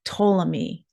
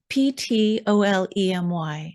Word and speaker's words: Ptolemy: who is this guy ptolemy p-t-o-l-e-m-y and i'm assuming it's a silent p right so ptolemy second century way back